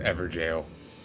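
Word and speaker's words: Evergaol: Also, I think it is pronounced Everjail.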